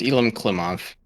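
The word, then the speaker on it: Elem Klimov: elim klimov yeah that's i hope that's how you pronounce it it's elim klimov well his name is russian yeah you know whatever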